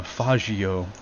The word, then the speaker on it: Faggio: Yeah, he runs away on a faggio, is how you should pronounce it.